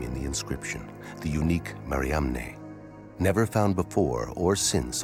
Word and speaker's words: Mariamne: Magdalene was an apostle, then the unique alias Mara on Mariamne's ossuary could be pointing to something extraordinary.